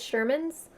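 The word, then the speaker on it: Scheuermann's: sherman's disease it smell it spelled weird like it's kind of like spelled like schuler is spelled but it's sherman's you should look it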